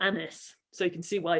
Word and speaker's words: Agnes: was very unstable, and Agnes was probably pronounced nearer to the French, like Agnes or Annis.